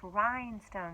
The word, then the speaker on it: rhinestone: It is pronounced rhinestone. The H is silent, but it is still there.